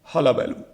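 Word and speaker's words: hullabaloo: तो हमें एक वर्ड यहां से मिल गया, हलाबैलू. प्रोनाउंसिएशन होता है हलाबैलू.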